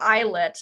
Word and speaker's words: islet: of like islip but it actually is pronounced eyelet and we oftentimes will